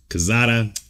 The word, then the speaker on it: Quezada: This is Quezada. He told me not to church it up, which I'm not. But it's Quezada. Quezada. Yeah, that's Quezada. Like the church way to say it.